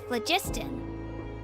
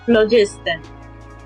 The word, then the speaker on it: phlogiston: Good things happen if you infuse it with phlogiston. They pronounce it phlogiston.